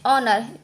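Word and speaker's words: honour: ओ से पहले आया एच साइलेंट होता है। जैसे कि इसको हम पढ़ेंगे ऑनर, क्योंकि हमारा ये एच साइलेंट है, एच हम नहीं पढ़ेंगे।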